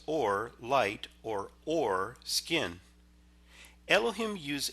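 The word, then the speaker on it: עור: It sounds the same as the Hebrew word for light. Both are pronounced or light or skin.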